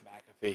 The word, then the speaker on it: McAfee: spelled but everybody's always said mcafee yeah it's mcafee he's he pronounced his name the story is act like